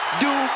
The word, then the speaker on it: Dupri: Michael, it's pronounced Dupri.